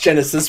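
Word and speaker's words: Genisys: It's pronounced Genesis, but it was spelled like a child wrote it.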